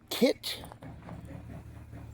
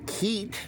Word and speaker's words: Keitt: It is a kit, what I used to call Keitt, but since then I've learned that is pronounced Kit.